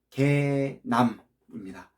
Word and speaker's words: 개남: 개혁 책방 그리고 개혁신학을 읽어주는 남자라고 해가지고 개남입니다. 발음을 잘 하셔야 됩니다. 이런 개 X가 아니고요. 개남입니다.